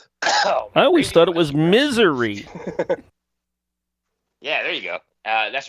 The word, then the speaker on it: Missouri: In Missouri. Is it? Are you The talking? the S is silent. In Missouri? I always thought it was misery.